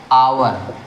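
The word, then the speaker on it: hour: एन का प्रयोग करेंगे आवर एच ओ यू आर ववर है लेकिन इसका प्रोनंसिएशन क्या होता है आवर क्या होता है आवर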